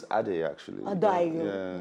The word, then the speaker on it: Adey: No, it's Adey actually. Adey. Yeah, it's okay. Adey. The Y is not heavy now. Forget, you have to heavy it. It depends on your tongue. The Y is silent.